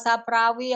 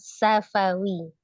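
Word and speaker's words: syafawi: Mim bertemu dengan fa itu termasuk ifa saprawi ya Ustazah. Sukun ketemu fa. Mim sukun dibaca sukun ya. Mim sukun ketemu dengan huruf fa. Hukumnya izhar safawi.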